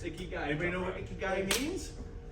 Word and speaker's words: Ikigai: It's Ikigai. Anybody know what Ikigai means? That part I don't know. Sticky. No. This is where the Japanese comes in. Okay. Ikigai means a reason to.